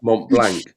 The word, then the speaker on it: Mont Blanc: That's Mont Blanc.